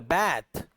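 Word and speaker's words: bath: यानी एक लफ्ज है बाथ ना। इसको अमेरिकन जब पढ़ते हैं ना वह इसको थोड़ा सा लॉन्ग वोवेल बैथ करके पढ़ते हैं। बैथ बैथ पढ़ पढ़ा जाता है और ब्रिटिश इसको बाथ पढ़ते हैं।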